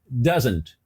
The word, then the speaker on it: doesn't: doesn't repete aí ó doesn't doesn't percebe que quando ela foi pronunciar essa palavra o doesn't esse T foi ignorado ela não pronunciou se t e a pronúncia ficou